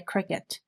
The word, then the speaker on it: Cricut: Circuit, I keep calling it circuit, but it's really a Cricut or Cricut.